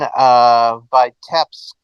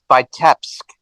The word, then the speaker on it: Vitebsk: You mentioned Vitebsk as one of the strong point cities. I mean, you sort of massacred the pronunciation of it a little bit, and I don't blame you for that.